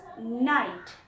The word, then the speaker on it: knight: Okay, the letter K is silent, and it is pronounced as night.